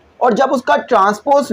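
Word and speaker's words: transpose: का ट्रांसपोज लोगे ना, बहुत से बच्चे इसको बोलते हैं ट्रांसपोर्ट, तो ट्रांसपोर्ट नहीं है भाई, ट्रांसपोज होता है, ठीक है, हो सकता है मेरी प्रोनाउंसिएशन थोड़ी आगे पीछे हो लेकिन ट्रांसपोज पढ़ना है इसको।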